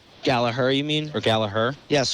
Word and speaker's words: Gallagher: a very nice mustache so I went for a a hard G instead of a silent G yeah it's I it's